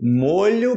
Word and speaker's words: molho: as palavras palavras homógrafas as palavras que tipo molho bolonhesa molho e eu posso falar sempre que